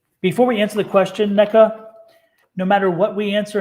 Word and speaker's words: Neca: She put neck, NECK, so it's NECA. Yeah, she said my first name is pronounced like neck-a, NECA.